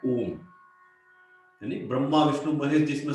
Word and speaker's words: ओम: ओम का उच्चारण कैसे करना है, ओ को 75% ओम बोलना है, 25% म ऐसा बोलना है, यस।